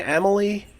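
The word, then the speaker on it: Amalie: you're in you know how do you pronounce it imma lay Emily and Emily arena Emily arena okay so you're there where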